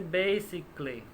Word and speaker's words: basically: Ella dice basically. Esto de aquí no se pronuncia, ¿no? Basically.